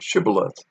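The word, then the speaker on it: shibboleth: to say the word shibal which means flood or current uh when they did not give the proper pronunciation they left out the sh sound the gileadites would kill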